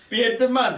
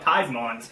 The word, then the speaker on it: Piedmont: I know It's not even how it's it's like Piedmont. It's like Piedmont. It's Pied. It's Piedmont. It's Piedmont. I'm telling you, he was pronouncing P-I-E is pie.